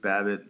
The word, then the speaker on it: Babbitt: the interesting thing yet Luke Babbitt rhymes with rabbit I that's he's kind